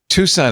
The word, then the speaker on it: Tucson: Tucson is spelled with an extra C, I should mention.